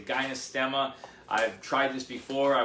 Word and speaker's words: gynostemma: on to most recently is gynostemma i believe that's how you say it could be ginostema i say gynostemma i've tried this before